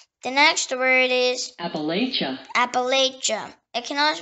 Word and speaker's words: Appalachia: Appalachia. It can also pronounce Appalachia or Appalachia.